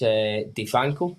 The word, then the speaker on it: Defang: Defan. Is that how I'm saying it right? Yeah. Defang.